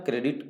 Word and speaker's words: Corps: तो NCC का full form correct answer होगा नेशनल कैडेट कोर। कोर का स्पेलिंग लिखते हैं CORPS, बट पढ़ते हैं कोर, इसलिए ध्यान रहे सी वाले से, बाकी सभी गलत हो।